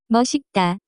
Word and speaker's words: 멋있다: The pronunciation of this word is closer to. 멋있다.